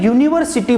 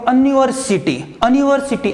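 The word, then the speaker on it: university: यहाँ पे आपको दिख रहा है स्पेलिंग यूनिवर्सिटी, लेकिन एक्चुअल में इसका प्रोनाउंसिएशन यू से करता हूँ, इट मीन्स वाई यू से करता हूँ।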